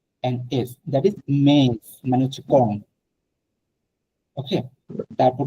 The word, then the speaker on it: mais: সো MAIS normal যে থ্রেমা ছাড়া সেটা হচ্ছে উচ্চারণ মে, মে মানে হচ্ছে বাট, কিন্তু মে বাট।